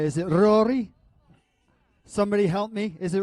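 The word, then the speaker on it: Ruairidh: How do you pronounce R U A I R I D Aari? Ruri. Oh, she tell me it's Ruri.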